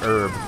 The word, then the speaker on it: herb: other country says yeah every other country says herb and then the US says herb.